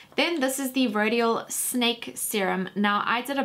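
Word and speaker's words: Syn-ake: face and it's not it's just a product that's spelled sin like sy n - a ke so it's just cool to say snake but this was such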